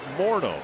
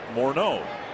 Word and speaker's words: Morneau: figure this out too, Justin Morneau, not Morneau.